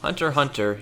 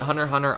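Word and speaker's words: Hunter × Hunter: Hunter x Hunter, yes, the X is silent, is at the same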